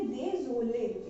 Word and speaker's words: désolé: Accent का मतलब होता है कि हम इसको थोड़ा सा अपवर्ड डायरेक्शन में बोलेंगे। ठीक है, यानी कि désolé, यानी कि अपवर्ड जा रहा है ना चीजें, तो इसलिए désolé, इसको इस तरीके से प्रोनाउंसिएशन किया जाएगा इसका।